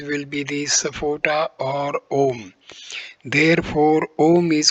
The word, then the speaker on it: Om: then what remains will be the Saphota or Om.